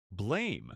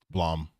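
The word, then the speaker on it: Blame!: Also, it's not pronounced blame. Blom. I'm not being funny either. That's how it's pronounced.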